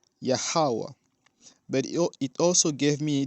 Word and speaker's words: Yahweh: we say Yahweh, and I used to say Yahuwah. I understood that this is how his name is pronounced, Yahweh.